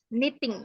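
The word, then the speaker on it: knitting: number e eh knting Kiting k-nya enggak dibaca kniting knenit k-nya enggak dibaca Kak itu kan tulisannya Ada k-nya ya Tapi k-nya itu gak dibaca jadi Bacanya apa apa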